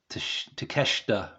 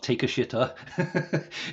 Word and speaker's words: Takeshita: name right now so kanasuki takeshita not takashita even though it's spelled like that it's takashta right so I can't pronounce